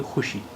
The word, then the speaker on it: خوشی: اس کی وجہ یہ کہ اب زیادہ تر ایسے شبدوں میں، ایسے الفاظ میں، ایسے ورڈز میں جن میں خے کے بعد واو آتا ہے، وہ زیادہ تر واو وہاں پر سائلنٹ رہتا ہے، یعنی واو کا تلفظ یا اچارن نہیں ہوتا ہے. اس لیے یہاں پر واو کا اچارن نہیں ہو رہا ہے. حالانکہ لکھا ہوا یہ خوشی ہے، لیکن ہم اسے بولیں گے خوشی.